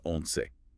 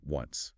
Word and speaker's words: once: It's pronounced once, not like the English word once.